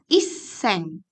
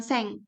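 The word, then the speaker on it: いっせん: seng gohyaku gitu ya tapi kalau 1000-ya di tengah seperti halnya 81.000 gitu ya itu tidak bisa disebutkan hanya dengan seng tapi harus iseng gitu nah jadi untuk 81.000 Yen bahasa Jepangnya adalah hachimang iseng e gitu ya minasang jadi jadi iseng bukan seng seperti itu ya terakhir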